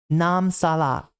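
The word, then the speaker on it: น้ำสละ: juice in English, or nam salak. Let me try to pronounce that better. Nam salak in Thai. There we go. I got to hit the K right, because it's not really accentuated.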